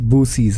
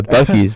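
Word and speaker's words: Buc-ee's: as well right see what you don't see boosies as well boosies yeah like a Boosie Badass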